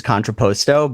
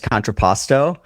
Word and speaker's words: Contrapposto: I can pronounce it incorrectly, which is how I pronounce it, which is contrapposto, but technically in Italian it's contrapposto.